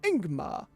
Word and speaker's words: Yigmar: Yigmar is pronounced Ingmar, leading with a vowel sound.